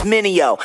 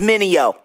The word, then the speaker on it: Mineo: Everybody make mistakes like VJs, tryna say my name, it's Mineo. Say it with me, Mineo.